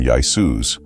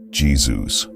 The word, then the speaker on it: Jesus: The written Yesus became Jesus, and the pronunciation shifted from Yus to the modern Jesus.